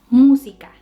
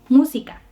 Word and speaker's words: música: El acento está en la primer sílaba. Entonces diremos música, no música, tampoco música, es música.